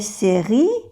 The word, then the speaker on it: séries: Quelles sont les séries? O sea que no se pronuncia ni la E ni la S, y aquí tampoco se pronuncia la S.